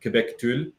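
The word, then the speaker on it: kubectl: Right up there with Quebec Tool. Yeah. Which is how you pronounce the Kubernetes control.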